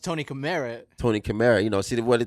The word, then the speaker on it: Kamera: but it's pronounced Tony Camara. Tony Kamera. See what the thing is everybody always say Tony Camera, Tony Camera.